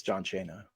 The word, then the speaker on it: John Cena: It's John Cena.